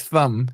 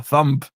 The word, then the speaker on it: thumb: When he says thumb, he has he pronounces the B still as a thump.